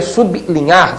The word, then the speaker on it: sublinhar: ou seja sub bli o povo passou a dizer bli que não é uma pronúncia perfeita né pronúncia perfeita su linhar destacando levemente Então como o l é